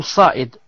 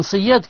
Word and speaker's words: Sayyad: Abdullah ibn Sayyad ou Saïd. Non, donc c'est moi qui ai mal prononcé. Moi j'ai dit Saïd. J'ai dit Saïd en français. Non, Saïd. Non, Ibn Saïd. Taïb. Je disais, donc, ce Ibn Sayyad, qu'est-ce qu'il a fait?